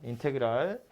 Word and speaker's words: 인테그랄: 읽을 때는 인테그랄이라고 읽고요. 인테그랄 fx dx 이렇게 읽으시면 되고요.